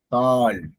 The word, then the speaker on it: கால்: அதனால அந்த நேற்று நான் சொன்னேன்ல நம்ம குறில் நெடில் எழுத்தை வந்து சரியா உச்சரிக்கணும்னா நம்ம அர்த்தம் பொருளோ வேறு மாதிரி ஆயிரும். ஓகே இது வந்து கா இல் கால் இல்லைங்க கால்.